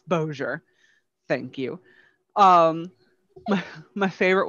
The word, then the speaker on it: Bossier: which will be pronounced shreveport and bossier it's like no honey that's that's where the french doesn't kick in it's bozier thank you um my